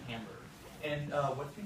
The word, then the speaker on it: timbre: It's And they sound They sound similar and it's called tamber. And we're going to be talking about tamber. T I M B R It's It's uh spelled like timber.